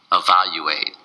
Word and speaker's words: evaluate: evaluate evaluate evaluate evaluate its four syllables and the stress is on the second syllable of wow you ate oh wow you ate evaluate now sometimes some native